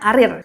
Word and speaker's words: karier: Betul karierul karier tapi karier itu tetap dibacanya karir.